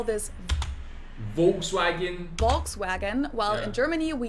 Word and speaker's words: Volkswagen: just imagine that it was spelled with an F and V instead. Okay, so the V in Germany This is like an literally F? means people's car Volkswagen.